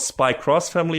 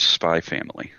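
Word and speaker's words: Spy × Family: Still not sure if it's called Spy Cross Family or just Spy Family. I'm not sure. Sometimes the X can be read different ways in Japanese. So apparently it is indeed pronounced Spy Family.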